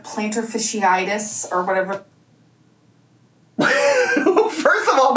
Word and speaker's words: fasciitis: She's trying to say plantar fasciitis. Am I even saying it right? Now I'm going to question myself. But I just like fishiitis, like salmon, trout, bass, tuna, like that kind of fishiitis. Where that word is, it was giving that.